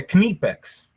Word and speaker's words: Knipex: of Kip like you you gotta say the K but like Fast kex yeah knipex you got any of like you say the K fast and then pronounce the the part the nip like KNE kex like that okay but she said